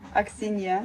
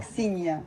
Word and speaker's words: Aksinya: Aksinya. Aksinya. Is that same as Ksenia? Not Aksinya is different. Aksinya.